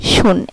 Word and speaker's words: schon: যদি কোনো ওয়ার্ডে SCH একসাথে থাকে তাহলে এটার উচ্চারণ হবে তালিবাস্যয়ের মতো। যেমন SCHON, শুন, SCHON, শুন।